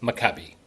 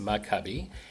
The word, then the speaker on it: Maccabi: So, the word is pronounced makabe. There are a few different pronunciations out there, but you did a great job, Don, with with the pronunciation, but it is pronounced makabe.